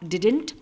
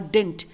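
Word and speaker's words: didn't: इसे आप डिडंट और डिंट दोनों ही तरीके से प्रोनाउंस कर सकते हैं।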